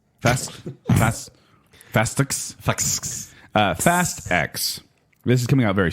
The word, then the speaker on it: Fast X: I don't know how to pronounce this. It's Fastix. Fastix. Fast X.